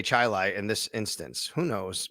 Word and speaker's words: Chili: I'm pretty sure because it's Gates Chilai. I know Gates Chilai High School. Gates Chilai. Um, it looks like Chile though. It does, but I believe you say Chilai in this instance.